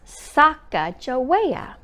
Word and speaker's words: Sacagawea: She has a fancy name, Sacagawea. You say it like this, Sacagawea.